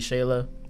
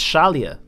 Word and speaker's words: Shalia: Thank you, Shayla. Okay, it's not Shayla, it's Shalia. Yeah?